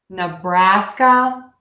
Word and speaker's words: Nebraska: Raska Nebraska Nebraska Nebraska let me check out this H my oftentimes cell that that American app sound that really open app with that H but I think that might confuse some people so let's try it like this nah Braska Nebraska Nebraska Nebraska Nebraska